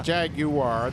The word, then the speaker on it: Jaguar: But not a Jaguar. They're pronounced Jaguar, by the way.